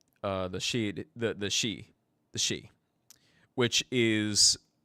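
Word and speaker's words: Sidhe: the she the the shei the shei which is uh um actually let me just spell it out for you so the she which is Irish and if you know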